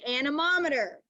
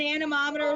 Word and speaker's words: anemometer: but i always think you see how it's spelled an anemometer spelled it like it says like it looks like it says annie right a-n-e annie and doesn't dorothy live with annie m or antiem annie m so i always think